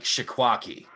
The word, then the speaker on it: Cheesequake: There's a place in New Jersey called Shikwaki. That's how you pronounce it. But the way that it's spelled on the signs is cheesequake.